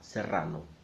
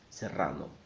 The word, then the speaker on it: serrano: the to Pilar DRA serrano serrano so I know that the Double R is a problem for many people so I thought of